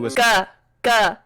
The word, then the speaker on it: Volga: There are a few known ways to Volga with a G. Hard G sound. Like in ground.